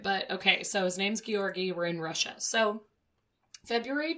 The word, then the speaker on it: Georgy: Is it Grigori? It's not Grigori. Oh, okay. There's no R in the beginning. I actually went to one of those dumb YouTube, like, pronunciation videos, and they said Georgy, but they said it, like, cooler than I'm saying it.